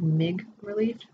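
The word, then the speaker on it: MigreLief: So he said that there was a product called Mig Relief, which is actually pronounced mig relief. It's a portmanteau, two words put together called portmanteau. I love portmanteaus. And so it's migraine relief, mig relief, mig relief.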